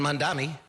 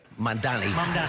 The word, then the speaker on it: Mamdani: And Mamdani said it right? Mamdani, almost there.